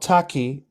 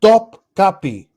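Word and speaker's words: Topkapı: It's not Taki. I said tap key. Top key. Top capi. Repeat after me. Top capi.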